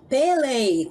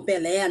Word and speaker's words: Pelé: falo que sou brasileiro peli como eles pronunciam Pelé né Eh Só que